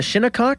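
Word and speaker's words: Shinnecock: This uh how do you pronounce it, Joe? Uh Shinakok, is that how you say it? Yep.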